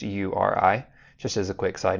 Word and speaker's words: URI: It's actually an acronym and it stands for uniform resource identifier. That's why it's pronounced URI, just as a quick side note.